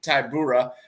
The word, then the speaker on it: Tybura: So Aspinall and against plus 360 Marcin Tybura. I probably butchered that one worse.